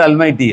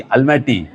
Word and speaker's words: Almaty: Then I said not Almighty, Almaty. So it looks like Almighty.